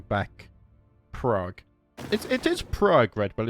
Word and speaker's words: Prague: It It is Prague, Red, but it's spelled Praa.